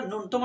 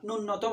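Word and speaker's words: ন্যূনতম: বা অল্প যেমন আমরা নুনতম শব্দ পাই শব্দটা নূন্যতম নয় এই শব্দের আসল উচ্চারণ হচ্ছে নূনতম তাহলে এই এন্ডিকাপড়টা ফ্লানেল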